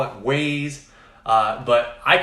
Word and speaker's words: Wyze: And so as soon as I found out on Reddit has a Wyze Cam form on there, and people were going crazy that now Home Depot carries them.